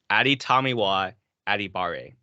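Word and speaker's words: Adetomiwa Adebawore: nail this down and I nailed it down Adi tamiwa adibare um okay yeah crazy crazy athlete crazy crazy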